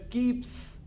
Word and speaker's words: keeps: it is z bags whereas keeps it's not Z it's not keep it keeps s sound s z they're different